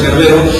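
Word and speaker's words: Cerberus: perro cerbero en latín el cervero se pronuncia carvero que también está también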